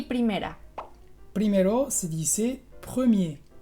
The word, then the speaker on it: premier: Primero se dice premier, premier. Y primera, première. Entonces, ¿cuál es la diferencia? Pues en premier tienes la R final que es muda, entonces es el caso que hemos visto en el sonido E.